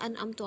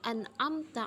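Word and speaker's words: أَنْعَمْتَ: Biasa kan kebanyakan orang membacanya an'amtu alaihim, padahal aslinya tuh an'amta alaihim. Sering dalam keliruan pembacaan gitu.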